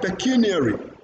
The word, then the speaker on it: pecuniary: And then you have valedictory. Tick is stressed in that word. Then you have pecuniary.